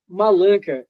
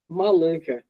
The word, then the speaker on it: Malanka: I saw Malinka. Is is pronunciation correct? Let me show you. Malanka and I read that it is like Oh yeah.